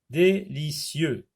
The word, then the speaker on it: délicieux: Délicieux, I-E-U, X n'est pas prononcé.